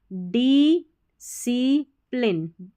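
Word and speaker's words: discipline: And self डिसिप्लिन, SCI को C पढ़ना है, डिसिप्लिन जो सेल्फ यानी कि आत्म अनुशासन को बोलेंगे सेल्फ डिसिप्लिन।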